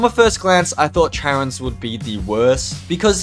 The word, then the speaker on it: Charon: Now, through this video, I am going to pronounce it the Hand of Charon, but in America, I think it's the Hand of Charon, and in Greek, it's the Hand of Charon. But I'm from Australia, and we typically follow the British way of pronouncing words.